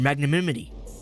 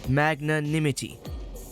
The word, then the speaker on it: magnanimity: I must thank you for your magnimity. I said that right. Right. Magnan magnanimity.